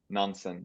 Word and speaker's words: Nansen: So, yeah, I pronounce it Nansen with this different type of A, but it's totally fine that you do the American one.